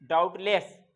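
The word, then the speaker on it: doubtless: परेशानी हो दूसरा है डाउटलेस क्या है ट टक डाउटलेस जो होता है बी साइलेंट होता है लोग जान नहीं पाते डाउट कहते हैं डाउट नहीं कहते डाउट कहते हैं कपाई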